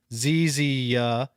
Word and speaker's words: Ziza: From To try- the word Ziza is pronounced Zizia.